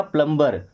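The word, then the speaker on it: plumb: अगर हम यहां पर ई आर लगाते तो बन जाएगा प्लमबर बट ये लास्ट में बी है ना तो साइलेंट ही रहेगा।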